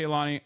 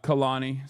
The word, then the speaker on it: Khalani: Anyway, but yeah, shouts out to Kaani. Uh Khalani, sorry that's how you say her name. I apologize. I was saying it wrong.